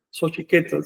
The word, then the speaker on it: Xochiquetzal: Xochiquetzal. Si le pones sufijo li, entonces es Xochiquetzali, pero siempre manteniendo el término llano. Es decir, pronunciación en la penúltima sílaba siempre, con independencia de que le pongas o no el sufijo.